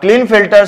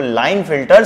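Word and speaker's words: Klinefelter: अब क्लीन फिल्टर syndrome, कुछ लोग इसको लाइन फिल्टर सिंड्रोम के साइलेंट करके भी बोलते हैं, ये किस में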